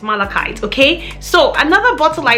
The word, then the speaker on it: malachite: right it was malachite alexa how do you pronounce malachite i pronounced that malachite but i'm always working on how i say things and i might not have it right so alexa has said it google has said it it's malachite it's malachite okay so